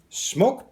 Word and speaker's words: SMOK: going to be doing a review on some smoke products pronounce smokes mock they've been around for years